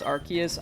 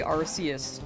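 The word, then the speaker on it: Arceus: Like I think canonically it's Archus. I They used to say Arus. I'm I'm pretty sure, which is what we were talking about earlier. Um I still say Arus, but yeah, the Ark phone.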